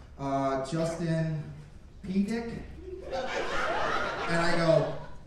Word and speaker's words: Pedick: going through the pages, and he's like, Justin Pedick? And I go, it's Pedick. He goes, yeah, but it's spelled P-E-Dick.